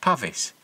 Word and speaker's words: Pavis: I should have really invest Ed in was pavis I've since learned that this is more accurately pronounced pavis but I've always used the long Vel sound